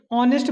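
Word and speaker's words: honest: जब उसका प्रोनाउंसिएशन करें, जैसे ऑनेस्ट बोल रहे हैं हम लोग, ऑनेस्ट में सबसे पहला वर्ड क्या आ रहा, आ, ऑनेस्ट, ठीक है।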